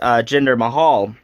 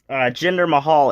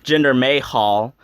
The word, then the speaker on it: Jinder Mahal: matches first of all he mispronounced gender Mahal's name gender may Hall I just thought that